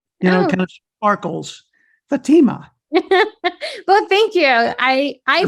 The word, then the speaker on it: Fatima: do pronounce your name Fatima or Fatima I pronounce it Fatima yeah okay so again it's prettier that way